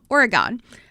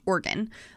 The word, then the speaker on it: Oregon: pronounce the state's name Oregon however when I was in college there was a girl in my class who was from there and she said it's pronounced organ like organs in your body so that's how I